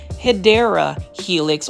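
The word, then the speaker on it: Hedera helix: Take a look at this sea of Hedra Helix or the correct way to say it based on a plan Fi is hideera helix or the English ivy.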